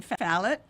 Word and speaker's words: Falit: Falit, and I'm pronouncing that properly.